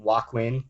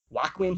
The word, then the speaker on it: Joaquin: And Joaquin is Jachin. They're both spelled with silent J's.